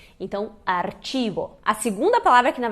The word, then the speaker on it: archivo: Bom, se diz archivo, então às vezes as pessoas pensam arquivo, não pensa na hora que é archivo, só que o CH em espanhol tem esse som de tch, então archivo.